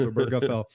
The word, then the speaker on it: Obergefell: The Obergefell case, Obergefell, not Obergefell, not Obergefell. 4 syllables, Obergefell.